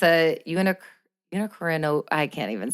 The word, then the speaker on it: unicornuate: But basically it's a unicornuate, I can't even say it. Unicornuate?